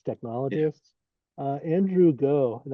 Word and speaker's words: Ng: Andrew Go, and that's spelled his last name is NG, but it's pronounced Go.